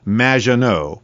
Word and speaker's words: Maginot: have mispronounced my name it's m which rhymes with badge uh as in duh and no as in more than you MAA no anyway thank you for having